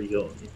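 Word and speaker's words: 四: Is pronounced as either she or yon.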